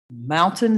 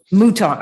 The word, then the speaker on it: Mouton: is it Mountain? Is that how you pronounce it? Mouton.